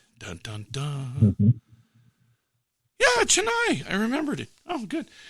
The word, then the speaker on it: Chennai: Texas Super Kings, though, the Chunai Super Kings. I'll look it up so I'm pronouncing it here in a second. Hold on here. Okay, so it is the dun dun dun. Mm-hmm. Yeah, Chennai.